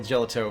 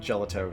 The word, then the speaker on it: gelato: out of your mouse it's pronounced gelato not gelato gotcha really really yellow